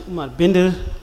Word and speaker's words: Umar Bindir: My name is Omar Binder.